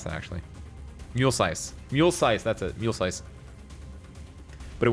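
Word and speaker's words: Muelsyse: I still don't know how to pronounce that, actually. Mulesize. Mulesize, that's it.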